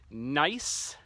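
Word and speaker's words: gneiss: kind of rock called nice it's pronounced like nice like it's a nice rock but it's actually spelled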